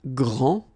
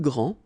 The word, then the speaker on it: grand: for the masculine, grand, so you don't pronounce the final D, will be exactly the same as the plural form for the masculine, grand. you don't pronounce the final D, you don't the D here, and you don't pronounce the final S.